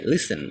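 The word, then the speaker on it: listen: কিছু কিছু ওয়ার্ড আছে যেগুলোতে সাধারণত টি টা সাইলেন্ট থাকে এরকম কয়েকটি এক্সাম্পল ওয়ার্ড আমরা এখানে দেখব যেমন হচ্ছে লিসেন মানে শোনা এন্ড ডিপো মানে হচ্ছে ডিপো বুকেই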